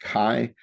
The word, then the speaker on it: chi: So this is a kai squared. This is actually a Greek letter x pronounced kai. So you may hear people talk about a ki squared test or a ki squared calculation.